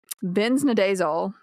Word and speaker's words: benznidazole: Can you spell it for me? That one. It's benznidazole.